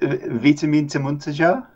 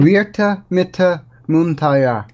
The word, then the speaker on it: Virtamittamuuntaja: You have pronounced it on many occasions with the W sound rather than the V sound, so I guess that would be... And I guess the J is more of a silent thing, so Virtamittamuuntaja? Maybe?